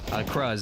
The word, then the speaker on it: Cruz: I'm guessing that you don't, seen from how you're pronouncing Cruz. Cruz is how it's pronounced.